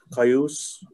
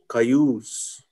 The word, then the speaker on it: Cayuse: It's just like English, Cayuse. It's spelled, using our alphabet. It'd be the extended U, Cayuse.